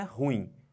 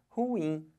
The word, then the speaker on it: ruim: bota força aqui mas a sílaba tônica não é horror é o ruim então o certo de falar não é ruim o certo de falar é ruim Olha a força que